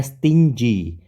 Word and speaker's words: stingy: Terus yang kedua, lawannya ada stingy. Stingy, G-nya dibaca dengan J.